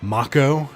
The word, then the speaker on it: Mako: I just learned last night that uh that makko energy as we learned in remake is how it's pronounced and we all know that uh nobody